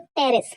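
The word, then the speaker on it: Pteris: Third टेरिस, है ना, दूसरा होता है टेरिस, पर टेरिस नहीं होता है ना, पी हमेशा साइलेंट लेते हैं हम।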